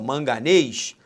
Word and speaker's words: manganês: Sobre a acentuação gráfica das palavras manganês, presta atenção, manganês, sílaba tônica, aí ó, é a última.